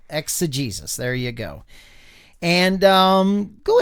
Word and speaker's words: exegesis: So exa, it almost has an A sound. Exa. And if you look at that right over the E, that's a long E sound. So it's Jesus. Yeah. Exegesis.